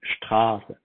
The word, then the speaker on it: Straße: Straße.